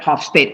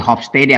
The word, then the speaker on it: Hofstede: Here, what I was talking about, that Hofstede. I don't know how to pronounce this one, because this one is Dutch. Yeah, it's not English name. Gert Hofstede, probably Hofstede according to me.